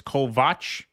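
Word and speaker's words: Kovács: Although, I will say my last name is pronounced differently than you'd think because of the way Hungarian phonetics works. The axe is pronounced like a like scotch. So, it's Kovach.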